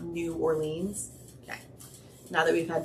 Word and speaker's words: New Orleans: in Rhode Island and that's how they say it it's not Rhode Island it's Rhode Island like New Orleans it it's New Orleans not New Orleans okay now that we've